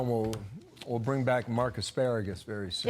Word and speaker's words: Geragos: This case is going to go on for a while, and we'll bring back Mark Asparagus very soon. Yeah, rhymes with asparagus.